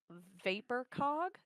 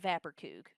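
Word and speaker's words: Vaporcog: It's supposed to be vapor cog is what it is how it's spelled. But she calls it Vaporkug.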